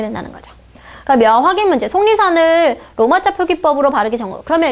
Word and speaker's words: 속리산: 그리고 기역과 니은이 만나서 다시 발음이 어떻게 나요? 속리산. 비음화가 일어나죠.